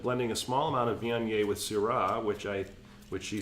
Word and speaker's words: Viognier: But you pronounce this Viognier. Viognier. Thank I you, know Vionia.